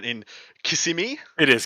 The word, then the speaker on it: Kissimmee: I want you to try to pronounce the city, Adam. Okay. Crucible 9 in Kissimmee. It is Kissimmee.